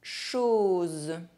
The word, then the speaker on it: chose: The letter O is pronounced O when followed by a Z sound. Z, like the little bee. Une chose.